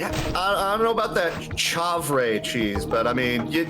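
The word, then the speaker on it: chèvre: the four cheeses blue uh how do you pronounce this chauvre c-h-e-v-r-e cheddar and mozzarella see i don't know about that chavray cheese but i mean you know cheddar and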